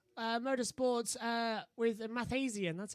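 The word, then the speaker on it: Mathiasen: the uh pri uh motorsports uh with a math asian that's how you pronounce it yeah it's mathasian it's uh the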